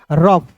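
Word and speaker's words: rough: तो इसका उच्चारण अफ के रूप में करेंगे। तो यहां पे देखिएगा ऑफ लिख दिए तो यहां पे देखिए अ जो है साइलेंट हो जाएगा और इसमें फॉर जुड़ जाएगा तो क्या हो जाएगा आर ओ यू जी एच रफ अब देखिए यहां पे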